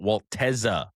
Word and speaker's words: Waltez: We got Waltez Tez, when you say his name I want spit to fly out of your mouth. Put Put some emphasis on the T.